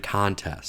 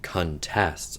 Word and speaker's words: contests: And, wait, no, I gotta go do your contests. I'll just do words. Contests. Verb. If it's a noun, the stress is on the first syllable.